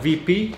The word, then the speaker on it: WP: Вообще я произношу это так же как и все в Словении, ВИ ПИ.